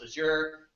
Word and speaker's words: Azure: uh accent you have saying with Azure sometimes pronounce asure you know all depends on your accent I say I as